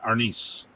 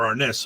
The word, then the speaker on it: arnis: because they don't like your pronunciation of the word arness or arnis or our niz which is another way i've heard about it saying and you know tomato tomato it's still all the same they're still the same